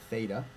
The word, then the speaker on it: theta: I'll make a note here, This is pronounced theta.